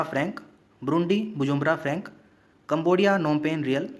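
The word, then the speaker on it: Phnom Penh: Cambodia नोमपेन real, यहाँ पर P silent रहेगा नोमपेन में।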